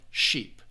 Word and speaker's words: sheep: those are two um you have that short I sound uh ship and versus the long e sound sheep all right sheep and